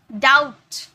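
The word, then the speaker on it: doubt: सट, यहाँ पर जो बी है ना ये साइलेंट है, इसका कोई मतलब ही नहीं है, सटल। डाउट, डाउट, डाउट नहीं, डाउट नहीं, डाउट, ओके।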